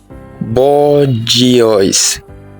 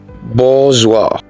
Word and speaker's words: bourgeois: Do you pronounce this as bourgeois? That's wrong. It is pronounced like this: bourgeois.